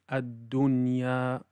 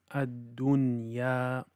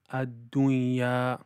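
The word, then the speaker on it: الدُّنْيَا: And also from the common mistakes is to mix it with a ghunna sound. So for example, in the word ad-dunya, ad-dunya, it should not be pronounced as ad-dunya,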